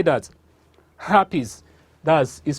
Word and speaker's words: herpes: to talk about today is next one is happies say that happies does is spelled h-e-r-p-e-s herpes is a viral disease that